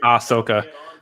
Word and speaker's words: Ahsoka: what I said yeah I feel like there's an H in there somewhere I just wasn't certain but it really didn't matter because it doesn't really get pronounced yeah it's ah Sokka